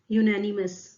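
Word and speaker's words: unanimous: देखिए correct pronounce करना भी बहुत इंपॉर्टेंट है। यूनानिमस, इसको आप बोलेंगे यूनानिमस।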